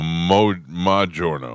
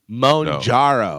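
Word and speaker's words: Mounjaro: Mojouro. Oh no. It's Madno. Monjaro.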